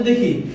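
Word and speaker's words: the: দি আর্টিকেলের উচ্চারণটা এখানে হবে দা।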